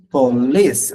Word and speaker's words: police: Ahí, police, acento en la I corta, police.